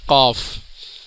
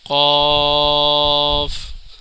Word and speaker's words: قاف: فا۔ ناظرین یہ حروف قاف، اس کے اینڈ کے اندر فا کی آواز نکلے گی، قاف، قاف موٹا پڑا جاتا ہے اور موٹے قاف